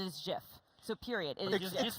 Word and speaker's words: GIF: It's GIF, guys. And I know I always lose this. I don't care. It is GIF. You're sticking by GIF. I will die on this.